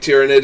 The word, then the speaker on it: Tyranid: in gaming shop so I feel like tearing it is the correct pronunciation but yeah like do